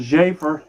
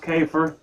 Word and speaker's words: Jafer: it could be so his name is pronounced jafer not kefer thank you for informing